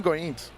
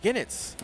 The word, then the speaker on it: Goenitz: When it's, how do you pronounce his name? Everyone does it different. I heard Law Yagami. No, I mean Goenitz. Goenitz. Oh, Ginitz.